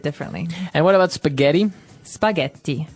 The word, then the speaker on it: spaghetti: spaghetti spaghetti oh you pronounce the double t as well.